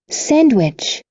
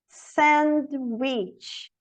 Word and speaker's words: sandwich: sandwich, Sandwich. Sandwich. Não tem D.